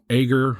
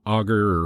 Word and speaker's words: Agur: by a guy named Agur, or Augur, or Agur, depends on where you put the emphasis on which syllable, and the other guy by the name of Lemuel.